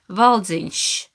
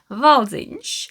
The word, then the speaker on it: valdziņš: becomes sh, valdziņš, sh, valzinch. So silmukka, valzinch. And in Finnish language, there is no sh. The sound doesn't exist in this language. That's why a lot of people have problems pronouncing it.